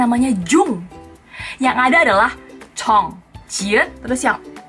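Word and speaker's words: Jeon: Banyak yang pasti bacanya Jun Ji Hyun, Jun Ji Hyun. Di Korea juga nggak ada marga yang namanya Jun. Yang benar bacanya adalah Chon. Chon. J-E-O-N bisa juga ditulis.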